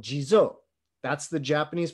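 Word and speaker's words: 地蔵: iconographic of this uh in japanese he's called jizo that's the japanese pronunciation of d zhang of those characters and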